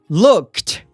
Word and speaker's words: looked: No passado, tem o ED no final, só que o som é de T. Então não é looked e nem looked, e sim looked.